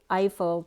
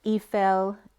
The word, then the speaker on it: Eiffel: So first that came up was, say Eiffel Tower. Can we say Eiffel Tower? And then when I looked up Eiffel Tower, the way phonetically it's spelled out is I and then full, like an eyeful.